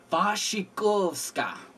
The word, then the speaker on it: Wasikowska: I believe the W is supposed to be a V. Wasikowska.